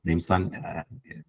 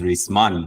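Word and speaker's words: ریسمان: Rimsan, instead of risman, which is rope, he says rimsan, pronounces it incorrectly. Go and bring that rimsan so we can save this fellow. And then the grammarian is enraged. He says, no, the correct pronunciation is risman, not rimsan.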